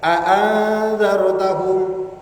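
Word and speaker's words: أأنذرتهم: Jadi membaca 2 hamzah ini dengan cara tahqiq jelas. A'anzartahum.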